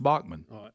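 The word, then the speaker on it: Baughman: spelled that way you're right and it is pronounced Bachmann I thought she said her name was spelled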